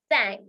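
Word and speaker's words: cinq: next number is five which is pronounced as sank is pronounced as sank sank s can I put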